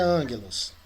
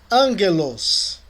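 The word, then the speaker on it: ἄγγελος: O encontro de um gama com outra gutural é pronunciado como N. N. Muito bem, Nathan. Muito bem mesmo. Angelos.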